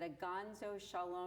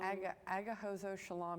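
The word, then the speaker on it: Agahozo-Shalom: Now there's another one called, I want to make sure that you help me with these pronunciations, that they're correct. Is it Aganzo Shalom? Agahozo Shalom Youth Village.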